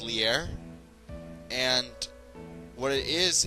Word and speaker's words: Leer: it lowers the defense in Spanish it's pronounced liar and what it is